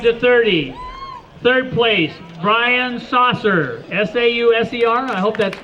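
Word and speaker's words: Sauser: Men 25 to 30, third place, Brian Saucer, S-A-U-S-E-R. I hope that's, is that how you pronounce it? Saucer? Saucer, okay. Saucer.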